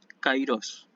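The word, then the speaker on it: καιρός: oportuno hay es tesis kairós siempre me pongo ahí se pronuncia ait diptongo y se pronuncia siempre ahí a efectos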